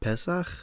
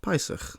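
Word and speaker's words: פּסח: You might expect this to be pronounced PES with this vowel here seel being pronounced a in such a context inish pronunciation. But is that how it's pronounced? Well, not really. It's actually pronounced pis as if the vowel mark there were.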